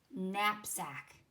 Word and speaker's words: knapsack: it between the words knapsack the silent letter is in the word nap knapsack is like a little bag guys like my cup got it just the other day mrs.